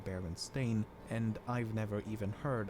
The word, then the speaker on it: Berenstain: of anthropomorphic bears however many remember the name as berenstein and not baron stain i also find it